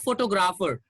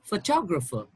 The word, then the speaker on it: photographer: then this is photographer it's not photographer it's photographer photographer and this one is